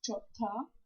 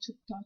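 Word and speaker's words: 좋다: Actually it's chotta, but everyone calls like chutta chutta.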